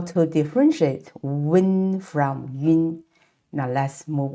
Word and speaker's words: wen: To pronounce this wen sound, we need to first produce oo sound and then quickly glide to say n. And make sure the air comes out from the nasal capacity because it's a nasal compound final.